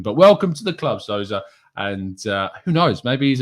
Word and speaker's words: Sousa: But Sousa, I believe, is the best way to pronounce his name.